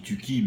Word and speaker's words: Tucki: On dit Touki, mais c'est pas très important finalement.